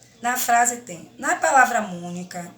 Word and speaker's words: Mônica: Na frase tem, na palavra mônica, o acento é circunflexo. Mônica, sobre a letra O, indica um sonzinho fechado.